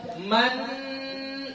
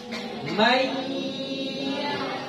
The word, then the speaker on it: من: bunyikan Nun ini lagi enggak boleh kita baca Man enggak boleh harus bagaimana May dia sudah huruf ya saja Tinggal huruf ya saja huruf nunnya sudah enggak ada lagi huruf nunnya sudah enggak ada jadi kita bacanya May yamalu kalau dia gunah